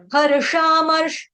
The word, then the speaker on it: हर्षामर्ष: हर्षामर्ष, दोनों श जो है यहाँ पे षटकोण के हैं।